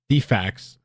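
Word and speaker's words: DFCS: Defacts, that's how they say it over there in Georgia, I was told, requesting to remove a child.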